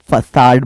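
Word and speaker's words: facade: दिख रही है बिल्डिंग उसको हम फसाद बोलते हैं सामने वाला पोर्शन फसाद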